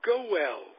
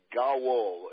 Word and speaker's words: Gowell: Well, I've been called a lot worse, Zig, but Gowell, put a little A on the O. It sounds like Gowell, but Gowell is the way it's spelled.